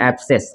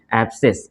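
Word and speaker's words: abscess: में एस होता है तो उस समय सी साइलेंट हो जाता है, ठीक है। जैसे ये वाला आप देख सकते हैं, इसको पढ़ेंगे एब्सेस। क्या पढ़ेंगे? एब्सेस।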